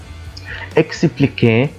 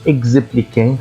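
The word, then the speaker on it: expliquer: ساكن زي لما اقول هنا اكسبليك اكسبليك ما قلتش ازبليك خطا لان الحرف هنا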